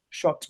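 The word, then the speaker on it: Schott: Her last name is Colt. Is that how you say it? It's Colt? Shot, like the jackets.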